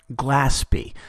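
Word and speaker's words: Glaspie: Her name is more properly pronounced Gillespie.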